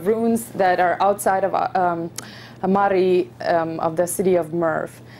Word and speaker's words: Mari: Many of you probably have seen it in call it Mary, but we actually pronounce it as Mari.